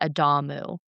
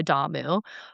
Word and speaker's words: Adamu: And so, they create what's called the Adamu. Okay? Sounds like Adam. Yes, it does. It's spelled almost the same way except there's a U on the end.